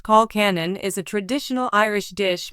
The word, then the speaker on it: colcannon: Colcannon, pronounced colcannon, is a traditional Irish dish made from creamy